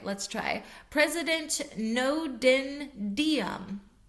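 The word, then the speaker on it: Ngo Dinh Diem: In 1963, during the leadup to the coupe against President um I'm not sure if I'm going to pronounce his name right. Let's try. President Nodendom, Nodendom, NG O D I N H D I E N.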